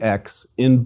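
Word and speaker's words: ξι: That is a K and S sound, and pronounced like the X in box.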